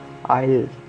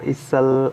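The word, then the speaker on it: aisle: Silent S, silent S में सबसे first word है हमारे पास आइल, इसको इसल और आइसले नहीं बोलेंगे, इसको बोलेंगे आइल।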